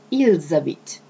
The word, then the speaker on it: ils habitent: Now attention, I pronounce ils habitent. This is something very particular of French language, French pronunciation, the fact that when the S is followed either by a vowel or a mute H, you pronounce it like a Z.